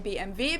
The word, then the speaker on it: BMW: In German, we say BMW because W is pronounced V in German, and it stands for Bayerische Motorenwerke, which means Bavarian Engine Works.